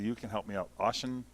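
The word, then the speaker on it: Auchentoshan: Am I pronouncing? You can help me out. Oshentoshen. Oshentoshen.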